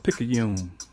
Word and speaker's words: Picayune: Shout out to Picayune, Picayune, but Picayune. That's how we pronounce it.